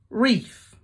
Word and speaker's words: wreath: it just packed up silent W answer wreath wreck sword wrong right can you think of